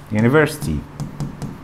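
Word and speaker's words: university: عندنا ان نلاحظ ان هناك كلمات بتبدا بيو يو يو، ولكن اليو دي بتتنطق واي، زي مثلا ايه؟ يونيفرستي، يانت، يانيفر.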